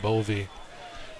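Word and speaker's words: Bowe: What's the heritage of a B-O-W-E being pronounced Bovey and a Sweevelover?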